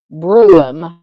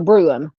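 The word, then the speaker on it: Brough: thank you Mr says it is pronounced Brew so leave out the GH so Brew thank you Miss Darlene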